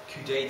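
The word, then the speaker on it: coudé: This thing called a Coudet tip, if you get asked in an exam, it's a good little tip for people with BPH. Coudet tip with an accent on the E.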